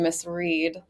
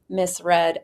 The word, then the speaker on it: Miss Red: number nine Miss red confused with the pronunciation Miss Reed but our backside correspondent Abby Huffman confirmed with Tommy jury it is pronounced Miss red at 7 to2 I'm